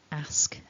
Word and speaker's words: ask: becomes an r and for me as a native speaker of english from the midlands in in england this is not a particularly natural sound for me so i would pronounce these words ask asked asked asking asks based on where i'm from but the standard dictionary form encourages us to go for the longer r sound so that's what we're